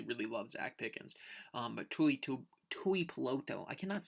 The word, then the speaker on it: Tuipulotu: Tuipulotu. See, the first name's messing up. Tuipulotu. Tuipulotu. You got to say it really slow for it to work.